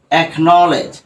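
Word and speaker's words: acknowledge: থাকে তাহলে কে টা উচ্চারিত হবে যেমন দেখো এক নলেজ এ সি এক তারপরে দেখো কে এন ও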